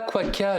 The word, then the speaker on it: Quokka: J'espère que je prononce ça bien. Quaka. Alors non, pas Quaka, le petit marsupial, mais Quaka, la compagnie qui fait des sacs adaptés.